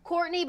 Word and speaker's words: Courtenay: my name a little differently pronounced it is pronounced Courtney but it's spelled like ctin so c r